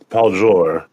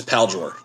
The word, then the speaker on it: Paljor: me a little uh the proper pronunciation is pal drawer yeah it's not French it's Tibetan yeah and um so my